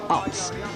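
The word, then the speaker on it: Aerts: I should remember to pronounce his name the correct way, by the way, my apologies to him, Mario Arts.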